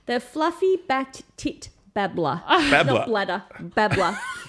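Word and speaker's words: fluffy-backed tit-babbler: I did start an animal dive on a bird called the fluffy backed tit bladder just because of the name.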